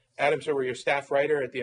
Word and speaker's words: Adam Serwer: I'm Dan Foster, news editor, National Review Online, and you are Adam Serwer. Am I saying that right? We're Yes. Twitter buddies, but I think this is the first time we. No, you said it right.